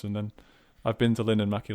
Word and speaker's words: Linnanmäki: Just say it like at the same exact speed. Don't pause on any syllable, and then you'll be saying it right.